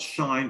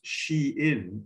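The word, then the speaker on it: Shein: originally started in chinese not shine but pronounced she in because it's clothing for for for females and at least one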